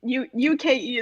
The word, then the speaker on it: uke: Yeah, I mean, well, I will tell you that one, and it's really unfortunate that I know this, but the UKE is pronounced UK.